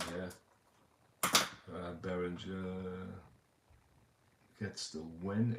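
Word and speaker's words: Berenguer: Win on Berengure. Bereng. It's Berengure. Berengure. Yeah, I gotta get my pronunciations correct here.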